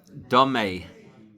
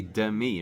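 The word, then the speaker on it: דמי: And don't mispronounce this one, okay? Domei. That would be demi, right? Or lemi. Domei means comparable.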